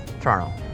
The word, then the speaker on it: Toronto: be torontonians a torontonian one of the telltale signs of a real torontonian is by how we actually say Toronto when I say it to non- torontonians I will enunciate Toronto all three syllables but really among locals it's Toronto Toronto Toronto all right simu where